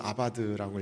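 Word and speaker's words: עבד: 원어로는 아바드라고 읽습니다.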